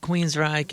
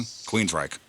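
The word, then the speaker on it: Queensrÿche: The only thing that I'll say is the umlaut is over the Y and it doesn't change the pronunciation.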